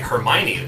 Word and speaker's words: Hermione: get me started on hermione granger it's like hermione really that's how you say it well there's